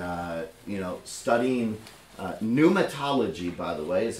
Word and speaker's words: pneumatology: my heart and uh you know studying uh pneumatology by the way is how you say this pneumatology uh we'll break down the word a little